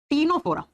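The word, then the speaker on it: Ctenophora: पर लिखो Nora again लिखा जाएगा सी से लेकिन प्रोनाउंस करते हैं तो हम टी से टीनो फरा नोरा फाइलम ल कालो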